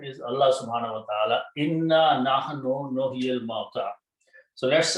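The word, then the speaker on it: إنّا: And as I mentioned before, then when we combine, three noons are there, one is not pronounced. So what is pronounced is written as inna.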